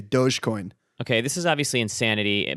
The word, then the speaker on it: Dogecoin: can i can i i'm going to call it dog coin because that's i think what it is instead of dogecoin i'm still doge i'm a soft soft g dogecoin okay this is obviously